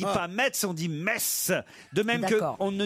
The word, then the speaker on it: Metz: on ne dit pas mais ce sont 10 messe de même qu' on ne dit pas freyming